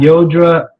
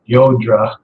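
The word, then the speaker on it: Llodra: Her name is spelled L-L-O-D-R-A, so I pronounce it Yodra, which I think is correct, but other people call it Lodra or Ladra or who knows.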